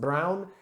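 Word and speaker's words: bruin: You'll see O-U-D, Oude, B-R-U-I-N, pronounced brown in Dutch, which is old brown, literally what it means in that sour specific style of beer.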